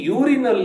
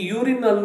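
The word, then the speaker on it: urinal: ಕನ್ನಡದ ವ್ಯಂಜನ ಅದಕ್ಕೆ ಈ ಯೂರಿನಲ್ ನ ಮೊದಲು ಎ ಅಕ್ಷರವನ್ನು ಬಳಸಬೇಕು ಇದು ಯಾಕೆ ಯಾಕಂದ್ರೆ ವೊವೆಲ್ ನಿಂದ ಶುರುವಾಗಿದ್ದರೂ ಕೂಡ ಇದರ ಧ್ವನಿ ಕಾನ್ಸೋನೆಂಟ್ ನಂದು ಸರಿನಾ ಇನ್ನೊಂದು ಉದಾಹರಣೆ ಒಬ್ಬ ಯುರೋಪಿಯನ್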